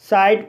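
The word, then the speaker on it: side: वाइक मीस मोटर गाड़ी एस को सा पढ़ा जाएगा आई को आई पढ़ा जाएगा डी को ड पढ़ा जाएगा ई साइलेंट रहेगा इस तरह से सेे साइड पड़ा जाएगा और साइड मीस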